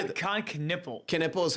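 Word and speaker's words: Knueppel: Knippel is how you say his Knippel, last I name.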